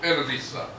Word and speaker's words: Analisa: a l i s well it's like two names like Anna and then Lisa it's spelled that way Analisa yeah like H Anna